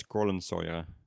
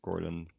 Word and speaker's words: Kohlensäure: Yes, and now I know it's Kohlensäure, not Kohlen. I don't know what I said earlier. For some reason, the AU with an umlaut is pronounced the same as the EU.